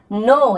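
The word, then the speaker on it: know: नो, यहाँ पे case silent है तो नो पढ़ेंगे, नाउ भी नहीं पढ़ेंगे।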